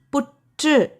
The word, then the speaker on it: புற்று: இர் எழுத்துக்கு இட் அப்படின்னும் சில இடத்துல உச்சரிப்பு வரும். இப்போ பாருங்க. புற்று. புற்று. இர். புற்று. அதில் இட் சவுண்டு வருது.